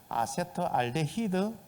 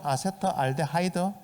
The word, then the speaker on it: 아세트알데하이드: 아세트알데히드 또는 아세트알데하이드, 뭐 영국식이냐 미국식이냐에 따라서 발음이 조금 차등은 있습니다만은 아세트알데하이드, 이렇게 발암물질로 만들어져요.